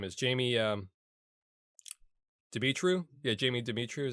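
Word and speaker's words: Demetriou: Yeah, Jamie Dimitru is how you say his name.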